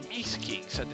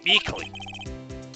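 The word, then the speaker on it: Meekins: Actually, Officer Meekings Officer Meekings at the detention center told us. That poor little doggy? Poor guy. I kept getting his name wrong and called him Meekly.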